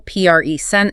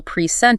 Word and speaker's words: present: If you stress the first syllable, present, it's a noun, a gift. If you stress the second syllable, present, it's a verb, like to show something to an audience.